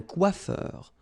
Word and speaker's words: coiffeur: Remember, O-I goes like wa. Quoi. And then E-U-R, heure. Un coiffeur.